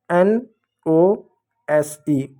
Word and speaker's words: nose: तो कहीं कहीं पर एस को हम स ना पढ़ते हुए हम ज पढ़ेंगे। जैसे NOSE, ओ आया, ओ के बाद कॉन्सोनेंट है, ई है, तो ई साइलेंट होगा, ओ को ओ पढ़ेंगे। कैसे? एन का क्या न पढ़ेंगे, ओ का ओ की मात्रा पढ़ेंगे। अब एस का यहाँ पर स नहीं पढ़ेंगे, नहीं तो नोस हो जाएगा, गलत हो जाएगा।